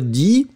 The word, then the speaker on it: dis: the three first person, so it will be je dis, D-I-S, S not pronounced.